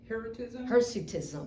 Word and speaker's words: Hirsutism: Hirsutism?